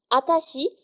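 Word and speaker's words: あたし: réservée aux femmes, c'est atashi. Atashi. Donc c'est la même chose que watashi, mais en fait on va enlever le W.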